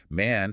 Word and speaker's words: man: Man has an open a sound like cat or apple.